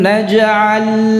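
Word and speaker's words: نجعل: Jadi bukan naja'a tetapi naj'a. Ya, pengucapannya tersendiri. Ya, tidak terpengaruh dengan harakat sebelumnya atau setelahnya.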